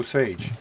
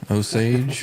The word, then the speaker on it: Osage: how to say it ain't no Sage Osage Osage yeah I don't know